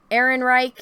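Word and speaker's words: Ehrenreich: you say his name what aaron reich is how you say it right uh he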